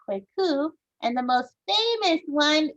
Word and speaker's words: Kwaku: mentioned already boys born on wednesday are called kwaku and the most famous one is we could